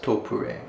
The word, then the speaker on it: Topre: In English it's written as something that could be pronounced as Topre, Topre, or something like that, but the company's actual name is Topre.